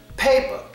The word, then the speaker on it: paper: Now, where's the schwa sound in paper? Is it the A or the E? Well, in this word, it is the E. Because you hear me pronounce the word, you hear me pronounce the vowel A loud and clear.